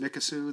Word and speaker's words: Mikisew: It's pronounced Mikisew.